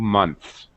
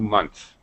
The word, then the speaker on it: months: notice we're not really I'm not really pronouncing the th in two months two months okay actually this is